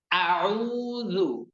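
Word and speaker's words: أعوذ: উচ্চারণ যাতে এমন না হয় যে আ উ, হ্যাঁ, আউ, আউ, আউ, আউ, আউ, আউ, আউ, আউযু। এই আউযু এই শব্দটির সবার শেষে যে অক্ষরটি রয়েছে, যে হরফটি রয়েছে, অক্ষরটির নাম জাল।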